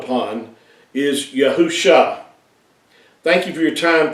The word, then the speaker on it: Yahusha: scriptures and how we know that it is pronounced as yahusha and not all these other variations that you